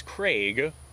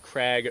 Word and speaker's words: Krag: for the most part most people pronounce it craig so that is how